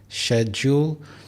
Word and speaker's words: schedule: This is schedule. There are 2 syllables, schedule. In American English, people would say schedule, but in British English, it is schedule.